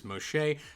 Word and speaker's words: Moxché: Took me a while to learn how to say Moshe. It's kind of a weird word. It's got some Mayan in there. So, uh I I asked and that's how you say it.